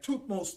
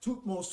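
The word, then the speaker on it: Thutmose: was the pharaoh after amuse then you had toothmost the first this is where moses name came from all right then you had two most a second all right his name is spelled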